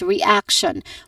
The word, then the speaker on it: reaction: that schwa sound is reaction which has three syllables. It starts with um re again re which has a short a vowel sound. It starts with an r sound and then followed by a short a vowel sound and then following that is ak which is our emphasis here.